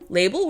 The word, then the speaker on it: Label: Label rhymes with able, and beyond that, a label is something sewn into clothing to show the designer of that article.